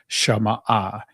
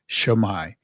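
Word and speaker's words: Shema: The ancient Hebrew pronunciation of the word is shamah. The Israeli pronunciation of it is shamai.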